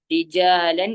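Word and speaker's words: رجالا: അല്ലെങ്കിൽ നിർത്തുമ്പോൾ എന്ത് ചെയ്യണം രിജാലൻ എന്നുള്ളത് രിജാല രണ്ട് ഹറക്കത്ത് എന്ത് ചെയ്യണം നമ്മൾ നീട്ടി നിർത്തണം ഇനി കസീറൻ എന്ന ഭാഗത്ത്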